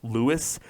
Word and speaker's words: Louis: By the way, despite his name being pronounced "Lewis", it’s spelled like "Louis".